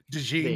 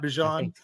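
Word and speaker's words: DeJean: were all into Cooper dein right dein not Deon I think it's the right way to say it yeah um and maybe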